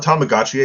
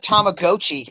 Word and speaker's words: Tamagotchi: See, I'd call it Tamagotchi because apparently that's how you pronounce it.